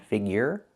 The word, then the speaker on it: figure: Figure the y-year sound figure.